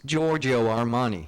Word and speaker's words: Giorgio Armani: Who is Giorgio Armani? That is correct. Well pronounced as well, Watson.